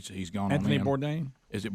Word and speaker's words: Bourdain: Bourdain. Is it Bourdain? Mm-hmm. Yeah. Adler knows because I didn't realize what Adler was very upset about this. This is Anthony Bourdain, CNN host and celebrity chef.